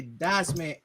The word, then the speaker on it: Dycezman: And as we sign off for Sheriff, for the executive consultant, I am the almighty Dycezman, aka the Z is silent, but I am elite.